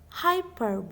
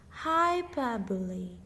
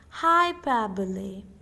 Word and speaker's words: hyperbole: people mispronounce it as hyperb but but that's incorrect the right pronunciation of this word is hyper hyperbole the stress is on the second syllable per now practice it along with me hyperbole hypo means a way